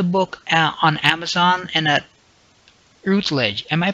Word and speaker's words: Routledge: The author is our guest, Donna Orange, and you can find the book on Amazon and at Routledge. Am I pronouncing this correctly, Donna? Routledge?